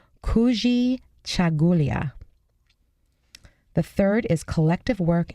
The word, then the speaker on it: Kujichagulia: this one's great this word in Swahili is pronounced Kujichagulia the third is collective work and responsibility and